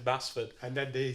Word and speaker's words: Basford: We're talking about like Baseford. Yeah. Insisting we pronounce it as Baseford. The return of this season as well. We've had a respite from the mispronunciations of Baseford, Basford.